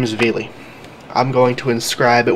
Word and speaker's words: Vili: hall of the front it'll say veli spelled v-i-l-i there are other ways of pronouncing it depending on what language language you're translating it in but the name stands